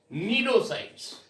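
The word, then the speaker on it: cnidocytes: Hydra के अंदर ध्यान से सुनना बेटा, स्पेशलाइज्ड स्टिंग सेल्स होती है, उनको बोलते हैं हम नीडोसाइट्स. दैट इज या सी साइलेंट होता है, दिस इज नीडो और साइट्स.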